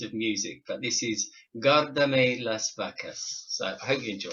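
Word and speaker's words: Guárdame las vacas: So I was looking at it as Gardem Las Vascas, or I couldn't say it, but she taught me how to say it properly, which was Guardame las vacas, which translated it means looking after your cows.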